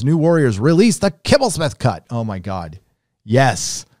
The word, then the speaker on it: Kibblesmith: What's the proper pronunciation of Kibblesmith? Well, it's Kibblesmith.